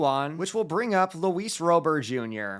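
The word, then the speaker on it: Luis Robert Jr.: which will bring up Lis Rober Jr before any of you say I'm pronouncing his name wrong this is exactly how the man himself pronounced is his own name on the team site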